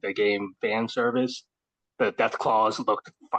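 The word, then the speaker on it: Deathclaws: Death claws.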